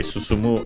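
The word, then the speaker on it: 進む: Okay, Suzumu unacented Modoru. Okay, Modoru accented instead. Okay, was just Suzumu.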